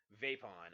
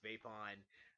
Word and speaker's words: VIPON: I believe it's pronounced Vapon.